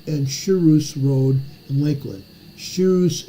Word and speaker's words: Sherrouse: Cherus is spelled SHERROUSE.